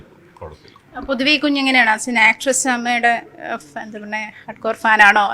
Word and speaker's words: അമ്മ: പക്ഷേ അങ്ങനെ ഒരു സാഹചര്യത്തിൽ അമ്മ എന്നുള്ള പേരിന് ഈ സംഘടന യോഗ്യതയില്ല എന്നൊരു സാഹചര്യത്തിലാണ് AMMA എന്നൊരു പ്രൊനൗൺസിയേഷനിലേക്ക് അത് മാറുന്നു, ഉച്ചാരണത്തിലേക്ക് അത് മാറുന്നത്. അങ്ങനെ ഒരു സാഹചര്യം എന്താ നിങ്ങൾ പറയുന്നത്? ഞാൻ പറഞ്ഞു വന്നത്, ഇപ്പൊ അമ്മയാണോ AMMA ആണോ?